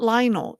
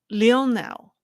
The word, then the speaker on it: Lionel: So you might have already heard the incident of let me pronounce his name right. It's not Lionel, it's Lionel. Lionel Messi refusing to appear in a Hong Kong